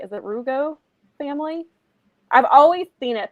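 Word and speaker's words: Rougeau: Is it Rugo family? I've always seen it, but I've never heard how it's pronounced. I bet you it's all right. Rujo.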